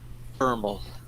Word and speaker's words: VRML: Vermal. What is a vermal? Virtual reality modeling language. Pronounced vermal, or by its initials.